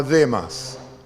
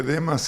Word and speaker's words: Demas: creyentes y llegaba Demas y Pablo se equivocaba y ponía el acento en la A. Acá está Demas.